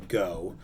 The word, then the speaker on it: Gault: gerald francis go now it looks like Gault GA ult pronounced to go and Gerald Francis go